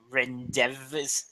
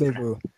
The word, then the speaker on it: Rendezvous: Hitagi Rendezvous. That's how it's pronounced. Rendezvous.